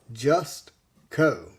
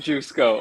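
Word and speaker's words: Jusko: was confirmed today that he pronounces his name just Co Jessica no I'm actually sad about that I love saying just go oh my gosh gotta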